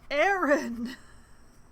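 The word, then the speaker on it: Aran: Shadow Thief hello finally Aaron oh it's it's pronounced Aaron okay my thanks Aaron what would you have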